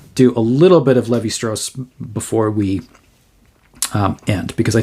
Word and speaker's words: Lévi-Strauss: So Claude Lévi-Strauss is how this is pronounced, not Levi, but it's Lévi.